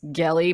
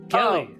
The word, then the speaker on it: Gelly: again UMO that's elegant my name is gelly by the way hard G that's very important I'm so sorry yes Kelly no yes I don't